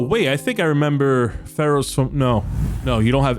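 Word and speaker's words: Feros: It's spelled on the plaque F-E-R-O-S. Pharaohs.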